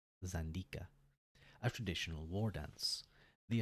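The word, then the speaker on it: Xandika: Ka a the Z I'm going to pronounce it zanda a traditional War dance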